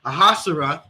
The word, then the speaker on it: Ahasuerus: And that's what King Salakia, how do we pronounce his name? Ahasuerus.